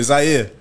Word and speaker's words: Zaire: Zaire.